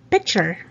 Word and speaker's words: picture: Number seven, picture. Picture. There are other words that end with chur. T-U-R-E, the pronunciation is chur, not chure. So you don't say picture. Picturan tayo, right? In English, it's picture.